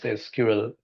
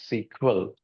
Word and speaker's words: SQL: SQL SQL or SQL so few people pronounce it as SQL you pronounce it as SQL both are same it stands for a